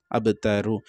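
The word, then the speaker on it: أبتر: আব, এখানে অবশ্যই আব এরকম উচ্চারণ হবে, ধাক্কা দিয়ে পড়তে হবে। আর তাজবত্তা র জবর রপেস রু, আবতারু, এখানে যদি আমি ছেড়ে দিই আবতার, এইভাবে পড়তে হবে।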